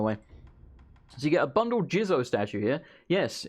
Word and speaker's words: Jizo: you get a bundle Jizo statue here yes it's apparently actually pronounced jeers oh not Jesus so it seems weird